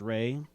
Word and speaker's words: Ralph: Yeah, no, Ralph is pronounced Ray for some reason because like apparently he comes from sort of nobility of something.